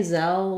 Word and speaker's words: Zelle: at the end um but the word zell just has three sounds the z the e like in red tent and our final l so it might help you to think of the word cell because it's a very